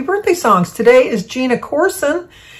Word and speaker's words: Corson: Today is Gina Corson. It's C-O-U-R-S-O-N, but she said to spell it, to sound it out like Ourson, Corson.